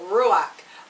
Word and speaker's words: ruach: in hebrew it is called is this pronounced ruach in greek it is pronounced pneuma you want me to spell that yeah okay hebrew ruach r-u w-a-c-h r-u-w-a-c-h yes in greek it is